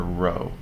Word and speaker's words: rho: you say it, because this letter is not a P, it's the Greek letter rho. Rho is a Greek letter that stands for momentum.